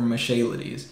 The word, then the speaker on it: Michailidis: He's got a couple of advantages over Michailidis. That's how you say it.